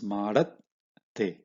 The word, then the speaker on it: ಮಾಡತ್ತೆ: here, which is the, you should pronounce a letter above that with half matra. Okay, madat, and then whatever kombu that is on this will all be for the baby letter. So it's madat te. Okay, so that's how you pronounce, because in this case